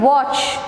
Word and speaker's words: watch: silent letter next is watch watch is w-a-t-c-h but we don't pronounce the letter t in watch we just say watch